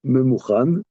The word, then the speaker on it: ממוכן: Il a dit, oui, c'est écrit Mumchan et Il dit Mouchan. il dit Mouchan. Memouchan. Alors c'est vrai, ça s'écrit Mumchan. Hein. Mais pas la première fois. Pas la première fois. Il n'est pas au même endroit. Oui. Mais ça se prononce Memouchan.